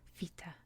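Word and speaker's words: βήτα: me this is pronounced so it's not a b papa sound let me just leave these over here it is a v lava sound v like any other like vest velcro anything that starts with v vita don't get confused uh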